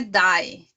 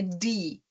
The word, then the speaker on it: die: E cuidado, aqui não é die. Tem alguns alunos que têm influência do inglês de falar die. Nein, é die, tá? O E não se pronuncia, é como se fossem dois Is, tá?